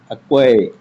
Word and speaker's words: acquire: Choose the word in which the letter C is silent. Acquire.